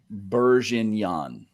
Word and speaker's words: Bourguignon: Reaver's helping you spell it. Say it like this, Ryzak. Bourguignon.